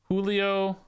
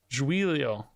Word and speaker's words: Giulio: Julio. Is it Julio or Giulio? Giulio. Trying to broaden my pronunciation.